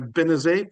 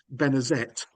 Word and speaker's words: Benezet: So, Benezet became Benezet. And we know that he pronounced the T at the end of his name in later life because sometimes he spells